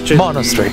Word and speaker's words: Monastery: Va accentata la prima sillaba. Monastery.